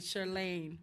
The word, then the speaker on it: Chirlane: unity we the first lady chirlane McCray she made me say it right Saturday somewhere sure Lane that's the agency kind